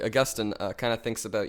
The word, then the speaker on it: Augustine: and so then then Augustin I pronounced that horribly Augustine uh kind of thinks